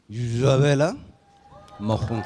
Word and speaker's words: Isabel Marant: He said, "No, you have to use the French pronunciation." "You must use the most authentic Parisian accent to introduce our brand to customers. Isabel Marant."